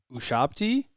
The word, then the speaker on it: ushabti: the scarab pointing to Amit's Ushabti is how I'm going to pronounce that. Yep. I think you got it pretty well.